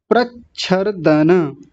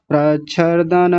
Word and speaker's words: प्रच्छर्दन: प्रच्छर्दन, कई लोगों की गलतियां क्या हो रही हैं, प्रच्छर, र को पूरा कर रहे हैं, प्रच्छर, प्रच्छर, प्रच्छर, र आधा है तो आधा ही बोलेंगे, प्रच्छर दन, न को पूरा रखेंगे, यहाँ न को कई लोग आधा कर देते हैं, प्रच्छर्दन, दन, दन, दन नहीं, दन ऐसा बोलेंगे।